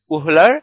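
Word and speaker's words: Wöhler: ভোলার উচ্চারণে আমরা ফ্রেডরিক ভোলার বলবো।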